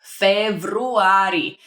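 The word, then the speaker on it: февруари: It's very similar to February. Februari. Just a little bit of a trick over there in pronunciation, but that means in February, and I indeed was born in February.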